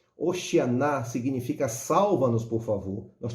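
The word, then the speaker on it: הושענא: os irmãos possam compreender a pronúncia é oxigenar hoshiana significa salva-nos por favor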